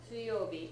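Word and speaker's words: 水曜日: Notice the spelling suyobi. It's easy to not hear that e and forget to spell it that way if you're writing it out.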